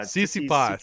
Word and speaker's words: Tsitsipas: It starts with a T, and the second letter is an S. Or something. Yeah. Tsitsipas, yes.